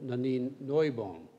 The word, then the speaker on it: Nanine Neubohm: I'd also like to thank supporting sponsor Nanine Neubohm. Now, Paul will think I got the pronunciation wrong, but I just had the pleasure of meeting her. I understand that that is the correct German pronunciation.